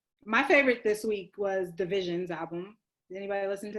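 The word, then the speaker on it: DVSN: I never knew that's how it was pronounced. I always called them DBSN. DBSN? That's okay. DBSN. I was like Division. Who's Division? Is it pronounced Division?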